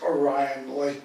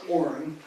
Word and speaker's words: Orion Lake: It's not pronounced Orion Lake, by the way. It's Orin.